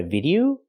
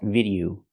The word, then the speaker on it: video: recently I posted a video the word is not pronounced video It's pronounced video o the last vowel is a long o like no and go o video not video